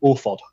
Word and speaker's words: Orford: And our guitarist is from a place called Orford in Warrington. Okay. And if you say Orford in a Warrington accent, you say Orford.